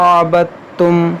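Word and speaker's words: عبدتم: देखें यहाँ पर दाल साकिन है, साकिन हर्फ यहाँ पर साइलेंट होगा, दाल की आवाज़ यहाँ पर नहीं आएगी, ता की आवाज़ आएगी। अबदतुम, अबदतुम नहीं पढ़ेंगे, अबदतुम पढ़ेंगे इसको। वला अंतुम आबिदून मा अअबुद लकुम दीनुकुम वलिय दीन।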